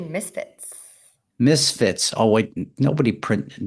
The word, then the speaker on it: MSFTS: guest is kayin or founder of msfs that's a mouthful it is it's actually Misfits Misfits oh wait nobody